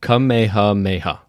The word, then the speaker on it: Kamehameha: I found how to pronounce the king's name. All right, go for Okay. it. Kamehameha.